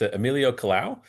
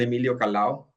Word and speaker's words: Emilio Kalao: mispronounced your your name, but it's Emilio Kalao um who works for Hallebertton in their drill bits and services group. So, Ailio, if you'd like to introduce yourself and offer some some opening remarks, we'll turn it over to you. Thank you. Your pronunciation is perfect actually.